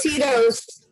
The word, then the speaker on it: Tito's: And Tito's. And that's I got what Tito's.